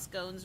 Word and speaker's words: scones: hair informs me that in educated circles scones rhymes with bones like SC Not scones like we've been saying yes wow either forget